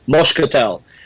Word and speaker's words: moscatel: I think my grandfather actually used to use, because he would pronounce it, with a Portuguese accent, it's moscatel.